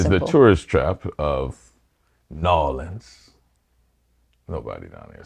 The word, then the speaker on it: New Orleans: If you think of the French rhythm, Orléans. Yeah. We have the French rhythm without the French sound. New Orleans. So that's the way to think of it.